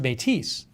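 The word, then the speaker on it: Métis: are in possession of the catholic church metis pronounced or is it metis the metis oh that says matisse matisse okay a person of mixed indigenous and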